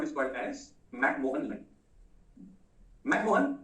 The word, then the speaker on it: McMahon: and please note the spelling, मैंने यहां पर मैं एक्चुअली गलत लिखा है, ये मराठी हिंदी वाला जो मोहन है ना वैसा नहीं है, ठीक है, इट इज MAHON, हम लोग उसको हिंदी